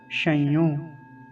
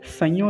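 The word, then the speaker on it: शंयोः: पंक्ति का पहला शब्द शयो ये ऐसे तो मैंने वही बताया तालव्य सकार है तो तालव्य का ध्यान रखेंगे संयो नहीं बोलेंगे शयों ऐसा उच्चारण होगा ठीक है शयों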